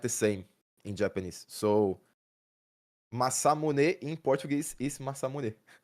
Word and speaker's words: Masamune: You you you can say like masamuni masamuni instead of masamune but I've watched anime enough to to know that that the the the right way to say it is masamune you know.